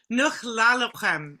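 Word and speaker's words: Nexwlélexwm: Nuch Lalochem is the actual pronunciation.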